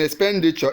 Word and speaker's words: expenditure: C expenditure D expenditure the one stress in B in expenditure is actually in p n so the answer is B expenditure has stress on the second syllable now let's look at